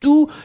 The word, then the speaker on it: tous: So it means that tous should definitely be in the plural form, masculine plural, T-O-U-S. And you don't pronounce the final S.